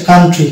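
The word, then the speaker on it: country: সেটাকে সাইলেন্ট পাবো ওকে যেমন এটা হচ্ছে কান্ট্রি কান্ট্রি মানে হচ্ছে সি ও ইউ এন টি আর ওয়াই এখানে ও সাইলেন্ট থাকছে শুধু ইউ এর উচ্চারণ আকার হচ্ছে কান্ট্রি অনুরূপভাবে এটা হচ্ছে ফে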